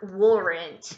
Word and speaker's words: weren't: Ó. Were. Ó, a língua já tá assim, ó. Weren't. Weren't. Weren't. Ran, ok?